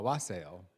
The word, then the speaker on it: wassail: A wassail.